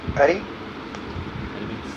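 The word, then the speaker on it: अरि: So hear the mantra attentively, pronounce properly and hear them attentively. Arisadvargam. Arisadvargam means? Ari means? Ari?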